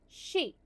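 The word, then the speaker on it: 四: The number four is pronounced she the same as the word for death and is considered very unlucky.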